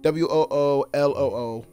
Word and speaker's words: Wooloo: Yeah, it's Team Woo and Loo. Wooloo.